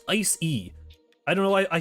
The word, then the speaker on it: Icy: Also, a lot of people pronounce this like Ice-E-E. It's just Ice-E.